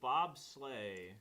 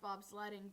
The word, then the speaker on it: bobsleigh: Whoa, bobsleigh. Who would have ever guessed? Bobsleigh. I thought it was Yeah. pronounced bobsledding for one.